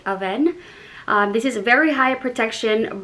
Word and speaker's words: Avène: how to pronounce this i thought it was avine but french they say it aven this is very high